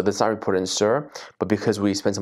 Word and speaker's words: CIRR: org Cir ror g i-- pronounces sir samu pronounces sere I think sir is the right way and again since for